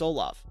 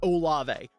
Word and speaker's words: Olave: I I really did I was calling him Chris Ola until someone in my Tik Tok comments was like dude it's olave you are pissing me off say his name right uh so it's